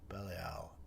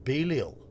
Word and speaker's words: Belial: Pronounced Belial. I imagine that would be the American pronunciation. I'm pretty sure in British English we pronounce a shorter E sound. Belial, I think. Belial. I think Belial would be the standard British English pronunciation of that.